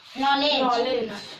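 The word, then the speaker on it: knowledge: है के silent letter नॉलेज में साइलेंट लेटर पहला के है और कुछ साइलेंट है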